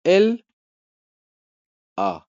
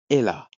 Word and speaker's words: elle a: On ne dit pas L, A. Non, c'est Ella. Ella. Il est à l'hôtel.